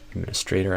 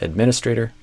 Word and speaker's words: administrator: administrator access to cusp administrator access. I think you stressed the stray syllable and I would stress the min administrator to customer support systems still had administrator access to customer access versus access.